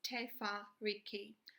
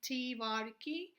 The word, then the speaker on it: Te Whāriki: first series of our tofurkey workshop it is pronounced as tefa Ricky I'll be doing editor workshop on Maori pronunciation there I'll be doing it in more in detail people pronounced differently some people say te whare key some say tamariki just in brief I have